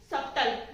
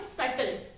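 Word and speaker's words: subtle: तो आज समझते हैं कि ये सबटल नहीं होता, सबटल नहीं होता, ये होता है सटल।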